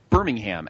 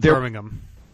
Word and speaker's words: Birmingham: I believe it's pronounced Birmingham. It's not Birmingham. We're not in England. It's Birmingham. Birmingham, it would be England. That's what I'm assuming.